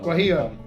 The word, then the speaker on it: Guajillo: Except I would like you to try and pronounce that one. Guajillo.